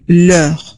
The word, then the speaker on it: l'heure: فوزية دازيلا أقول لا heure، أقول l'heure الأبوستروف لأن heure كلمة فيها H muet، يعني H لا ينطق، فأنا أعتبره غير موجود فأعمل الأبوستروف.